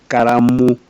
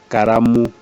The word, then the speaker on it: karamu: But Kikuyus have a problem with L, so they usually substitute with R. So kalamu becomes karamu.